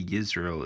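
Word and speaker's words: ישראל: The reason why I say Yisrael is because it's spelled Yisra apostrophe E with the half a check mark and then L.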